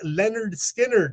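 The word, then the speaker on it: Lynyrd Skynyrd: two that amazing debut release pronounced Leonard Skynyrd from those Southern rockers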